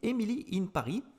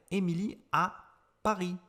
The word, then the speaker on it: Emily in Paris: la série en france on dit émilie in paris on le prononce à la française si vous regardez cette série au québec vous allez francisé cette seconde série et ça va être emilie à paris tout simplement alors peut-être